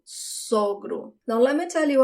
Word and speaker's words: sogro: But for father-in-law is the closed sound of the first O, sogro, sogro.